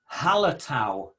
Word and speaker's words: Hallertau: The first one is Hallertau.